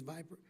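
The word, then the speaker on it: VIPR: pronunciation but it means viper it means v-i-p-r but it sounds like the snake in august dhs oig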